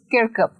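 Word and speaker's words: Kirkup: तो सबसे पहले बात कर लेते हैं इस पोम के ऑथर की, जिनका नाम है जेम्स किर्कप। किर्कप आपको प्रोनाउंस करना है जेम्स किर्कप।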